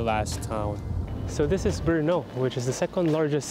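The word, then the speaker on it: Brno: town so this is Bruno which is the second largest city in Czech Republic next to Prague spelled with a b-r-n-o sounds like it's just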